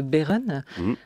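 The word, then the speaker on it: Behren: Alors, vu du ciel, il y a cette cité de Beeren, on prononce comme ça, ouais, à Forbach, en Moselle,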